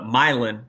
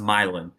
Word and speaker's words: Milan: real life it's the milin it's spelled like Milan like the Italian city but it's pronounced milin indigenous peoples but it